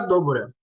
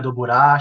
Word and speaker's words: Dobura: podem me achar Dobura. A pronúncia é difícil mesmo, gente. Dobura, Doburá, chama como quiser, mas é -D-O-B-U-R-A. E aí você vai me achar